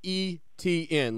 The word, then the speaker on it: Etienne: ETN, like the 3 letters.